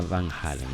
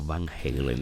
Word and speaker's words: Van Halen: incluso puede recordar algo a lo que hacía Van Halen, ¿no? O Van Halen, dependiendo de cómo quieran pronunciarlo.